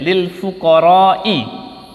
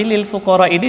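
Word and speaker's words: لِلْفُقَرَاءِ: Rasulullah bacanya tidak seperti itu, tetapi lil fuqara ini dibaca dengan sangat panjang. Innamas shadaqatu lil fuqara'i. Ya. Jadi dibaca panjang, tidak boleh pendek.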